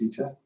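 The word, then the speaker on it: Vite: So I know Vita, it's pronounced Vita.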